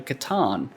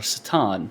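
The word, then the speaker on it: C'tan: And eventually they found something which was later called a Catan, or Satan, depending on how you want to pronounce it, which basically is like a star god.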